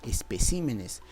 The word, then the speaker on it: especímenes: la palabra espécimen mira en la palabra espécimen la sílaba tónica es esta p que tienes acá este acuerdo espécimen está en singular pero qué pasa si yo lo llevo al número plural te vas a dar cuenta que su sílaba tónica se ha desplazado especímenes ha dejado de ser